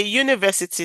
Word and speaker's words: university: So we can say a university. Some people will say oh why university. University that is U. No U. U. The sound is U which is Y.